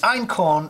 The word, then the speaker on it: einkorn: homework gluten proteins in einkorn wheat iron corn is spelt e-i-n-k-o-r-n and that was really